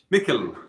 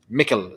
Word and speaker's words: Micil: How is the name pronounced? Micil. Micil, simple as that. Micil, yeah.